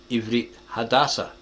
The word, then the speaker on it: עברית חדשה: Ivrit hadaṣa, that's how you say it, hadašā.